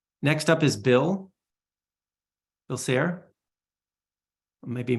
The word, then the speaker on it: Sayre: Bill Sayre. I may be mispronouncing your last name, Bill.